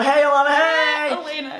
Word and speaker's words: Alayna: This is my friend Alana. Hey, Alana, hey! Elena, it's pronounced Elena.